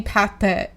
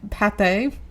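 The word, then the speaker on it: Pathé: is made by the company Pate Pate. Pate P A T H E with the accent over the E.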